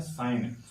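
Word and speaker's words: sign: आईजी ए यानी कि इसको हम पढ़ते हैं साइन यानी कि इसमें एन के तुरंत पहले क्या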